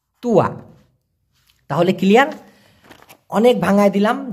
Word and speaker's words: tua: ওটাকে আবার বলা হয় তুয়া, TUA, উচ্চারণটা হবে তুয়া, তুয়া।